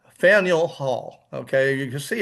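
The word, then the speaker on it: Faneuil: uh of the founding and it is called Faniel Hall. Okay, you can see it's f a neur. A lot of people pronounce it fine. That would be quite understandable. But the actual pronunciation is Faniel. Faniel Hall and again this is in Boston uh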